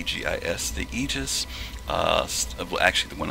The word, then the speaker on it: Aegis: is called the egis I'm going to say egis because that's supposed to be the correct pronunciation uh it's sped a e is the egis uh well actually the one I have right